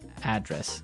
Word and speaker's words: address: and solve it okay so different from your home address where you live yeah and there the stress is on the first syllable address right perfect very good